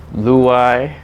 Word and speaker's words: Luyeye: Today I have a special guest, Luyeye. Did I say it right? Luyeye, but it's close enough though.